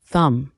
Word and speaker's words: thumb: off all her debts thumb pronounced thumb the short thick first